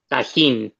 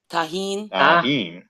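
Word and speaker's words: Tajín: so so Elie how do how do you pronounce the the spicy stuff tahen tahen okay have you ever had Lee hang Moy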